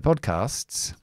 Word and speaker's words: podcast: hear commonly mispronounced, so it's pod You have to say pod. It's the D and then it's the k. pod casts. It's like a stop. Pod casts. Don't explode the D.